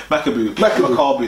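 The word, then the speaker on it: Makabu: Is it Makubu? What's his name? Makaboo. Mu say I'm saying the African way.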